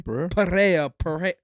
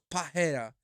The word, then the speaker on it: Pereira: Pereira. Pereira. Because in Brazil you don't pronounce the R's or whatever.